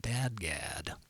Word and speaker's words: DADGAD: This is called Dadgad, because that's how it's spelled.